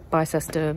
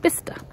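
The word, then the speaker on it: Bicester: sister b-i-c-e-s-t-e-r it's not it's not pronounced by sister or bisester it's pronounced bista um a local one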